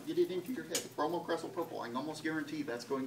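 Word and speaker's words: bromocresol purple: say it like 50 times with me no bromo crestle purple bromo crestle purple come on get it into your head bromo crestle purple I almost guarantee that's going to be a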